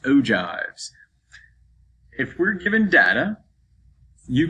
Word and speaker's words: ogives: ogives right here and i know it looks like oh gibbs but it's pronounced ogives if we're given data